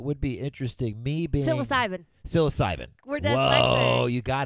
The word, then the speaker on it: psilocybin: it mushrooms, I guess, psilocybin or whatever it's called. If you hadn't said it, I would have had it. Yeah. Psilocybin. Psilocybin. No. Psychobilin. Stop saying it wrong.